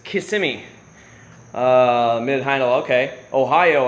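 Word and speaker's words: Kissimmee: in KMI as you guys know and it's pronounced KMI not kissi it's k simy uh mid hin okay Ohio I've been to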